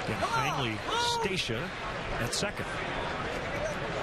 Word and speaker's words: Hainley: And Heinley Stacia at second. Heinley apparently is how you pronounce it.